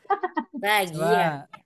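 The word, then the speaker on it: لاغية: Masih ada yang laghiyatan. Laghiyah. Ya, bacanya laghiyah ya.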